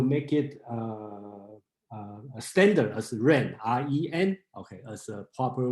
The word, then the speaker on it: 仁: And their Cantonese pronunciation, kind of like Yin or Yin. So you will see a lot of pronunciation J-E-N, okay?